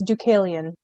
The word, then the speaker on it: Deucalion: It's hang on, I always have to look at it to be able to pronounce it because I know that I'm going to get it wrong. It's Deucalion.